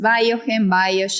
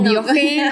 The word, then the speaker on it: Biogen: actualmente, como decías, que es Biogen, dependiendo o Biogen, o dependiendo quién y cómo cada uno puede pronunciarlo como quiera.